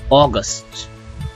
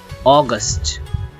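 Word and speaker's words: August: হচ্ছে জুলাই জুলাই আর এটাকে আমরা সাধারণত আগস্ট বলে থাকি কিন্তু এটা হবে অগস্ট। কি হবে? অগস্ট।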